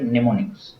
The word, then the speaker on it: mnemonics: তো সেই নিমোনিক্স এর উচ্চারণ যেটা এম দিয়ে শুরু, কিন্তু এখানে এমটা সাইলেন্ট থাকে, সেই কারণে ওয়ার্ডের প্রথম প্রনাউন্সিয়েশন করতে গেলে হচ্ছে ওখানে ন দিয়ে উচ্চারণ হবে, নিমোনিক্স, অর্থাৎ এন দিয়ে।